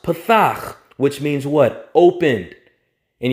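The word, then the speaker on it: פתח: here in the hebrew that word is pronounced pathak which means what opened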